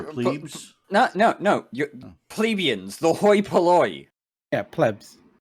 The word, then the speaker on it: hoi polloi: You're not supposed to write an H. It's oi polloi, but you pronounce it hoi polloi.